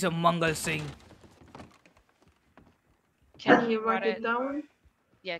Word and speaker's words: Singh: now g a l s i n g h it's sing and m a n g a l it's mongal mongal sing I didn't get can